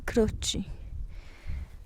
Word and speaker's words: Croci: Voici la bergerie di Croci. Ça s'écrit CROCI et ça se prononce comme ça.